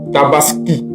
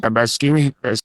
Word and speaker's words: Tabaski: Alors chers frères la deuxème remarque qu'on fait c'est que Alassan Watra n'arrive pas à prononcer Tabaski Tabaski Tabaski non il ditaskini Tabaskini Alas ditabaskini comme si c'était Ia qui parlait